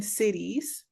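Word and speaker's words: cedis: Right now it's about 11 cities and a city is spelled C E D I S but pronounced like Oklahoma City or Kansas City but that's the currency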